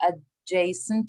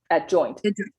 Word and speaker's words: adjoint: So for first it asks you to find the determinant, and then the adjacent of A. Is that how you say it? Adjoint.